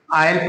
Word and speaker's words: aisle: ऐसे ही AISLE है, इसका हम पढ़ेंगे क्या? आयल पढ़ेंगे। आयल क्यों पढ़ेंगे? क्योंकि एस लेटर जो हमारा है ये आई और एल के बीच में एस है, तो एस की जो है हम प्रोनाउंस नहीं करेंगे, हम इसको क्या पढ़ेंगे? आयल पढ़ेंगे।